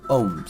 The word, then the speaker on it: ohms: symbol I think yeah Omega symbol and we pronounce it as ohms okay so the unit of resistance is owns